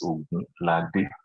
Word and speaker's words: Ogunlade: For AKD size, I want to know the real pronunciation is Ogunlade.